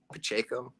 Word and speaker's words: Pacheco: they're rushing to control you know the time Pacheco is that how you say his name yep